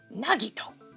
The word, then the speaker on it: Nagito: Nagito.